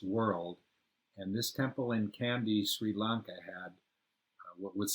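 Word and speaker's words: Kandy: temple in a town called candy spelled with a k and it was up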